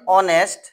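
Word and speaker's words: honest: যেমন an hour N অনেস্ট N honourable person. আমরা এখানে কি দেখছি? এখানে এইচ আছে। এই শব্দটার শুরুতে এইচ আছে। এই থাকা সত্ত্বেও এই এইচ এর উচ্চারণ এখানে সাইলেন্ট।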